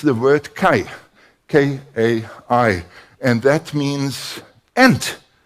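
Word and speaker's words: καί: But it's the word kai, K-A-I, and that means and.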